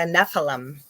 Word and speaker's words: Nephilim: little further, talking about, I always pronounce it wrong. I pronounce a lot of things wrong. Nephilim. The Nephilim. Nephilim. Nephilim. I'm going to repeat it all week so that I can do it right next week.